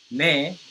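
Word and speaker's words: 네: So ne is the correct pronunciation, but it's just because the fundamental difference in tongue placement and mouth placement. Ne, if you look at my tongue, ne comes here. Ne. Right behind your upper teeth.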